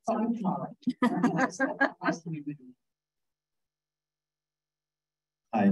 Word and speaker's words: Karen: My dad was Irish, my mother English, but I'm called Karen. And the reason I'm called Karen is my mother spent some time in Germany. I came back with that pronunciation of Karen as Karen.